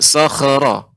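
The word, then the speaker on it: صخرا: Huruf kha huruf isti'la. Ketika dia sukun tetap dalam keadaan tebalnya. Maka membacanya wa thamudal ladzina jabus sakhra. Sakhra. Tidak Sakhra. ditebalkan. Tidak sakhra, bukan sakhra. Ini namanya memantulkan kha.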